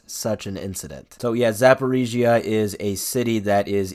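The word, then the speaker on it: Zaporizhzhia: I actually looked up how to pronounce it. Zaporizhia. I think I got it. The Zaporizhia nuclear power plant, which is the largest nuclear power plant in Europe.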